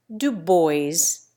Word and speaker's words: Dubois: So, too, the the French OI sound is disposed of, and Dubois is pronounced Dubois, and Boileau acquires a first syllable rhyming with toil.